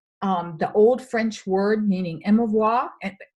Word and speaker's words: émouvoir: Now, the word emotion actually comes from a French term, the old French word meaning émouvoir, pronounced émouvoir, and it means to stir up.